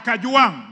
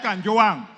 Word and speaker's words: Gachagua: all first of all pronounce my name properly I'm Nota I am kajang not Kang number two Mr Speaker